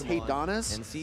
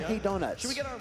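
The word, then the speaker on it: Hey Donis: A lot of uh Well, his gamer tag is Hey, Donis, but a lot of people read it and they kind of mispronounce it. They just call him Hey Donuts.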